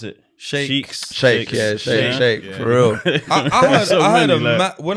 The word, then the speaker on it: sheikhs: Is that true, you pronounce it? Sheikhs. Shake, for real.